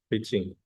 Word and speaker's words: phishing: But rather than use the F, we use the PH. The pronunciation is basically the same, pitching.